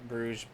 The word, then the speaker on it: Bruges: from brussels up to bruges it's called the bruce bruges oh man we're gonna we're gonna over your to you guys yeah yeah yeah bruce bruce it's supposed to be like bruce like one of the